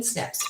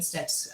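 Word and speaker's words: SNP: than myself yeah so a snip and how it's spelled it's an acronym is s-n-p and it's a single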